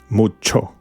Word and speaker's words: mucho: you at the beginning when you find CH you will will see you will say like so this phrase or this syllable c h o is Cho Cho CH Cho mucho it's almost like a show show but you have to put your tongue a little bit up close to the pallate and press mucho